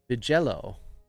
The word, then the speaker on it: Vigello: My name is spoken as Vigello. Ah, okay. I sometimes just call you because Vigello. Okay. It sounds like Jello.